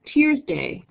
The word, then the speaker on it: Tuesday: know Thursday sort right Tuesday it's traditionally pronounced tears day which is after the Norse God Tyr Wednesday comes from the